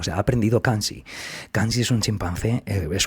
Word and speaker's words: Kanzi: Y Kansi, que estaba por allí, Kansi, que se escribe Kanzi, si ponéis Kanzi, bonobo, veréis, bueno, tiene esta página de Wikipedia, es todo un personaje bonobo, ¿no?